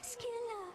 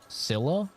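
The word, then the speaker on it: Scylla: There is no way. That's the canon pronunciation of that. I refuse to believe it. I maned Sila in Smite. I never once said Skila. I never heard anyone say Skila. They always said Sila.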